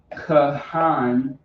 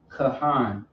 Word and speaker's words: Kahan: So Kahan, K-A. So you got the Ka, the H, and the Na. Kahan.